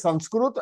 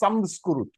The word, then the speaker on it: Sanskrit: So you can pronounce Sanskrit as Sanskrit as well as Samskrit.